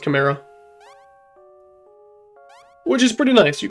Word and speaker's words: Chimera: Or Chimera, yeah, I think it's pronounced Chimera.